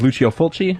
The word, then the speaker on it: Lucio Fulci: I believe the pronunciation of his name is Lucio Fulci, if I'm not mistaken.